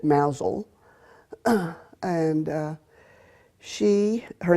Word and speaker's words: Mousehole: knew a woman in a little village called mouse hole although the English pronounced it Mazel and she her name